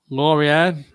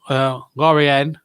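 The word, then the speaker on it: Lorient: it's I think I'm I'm told it's laoren nil Ren 3 I think that's how you pronounced laoren um most French names have spelled with a silent pronounced with a silent T um no that's my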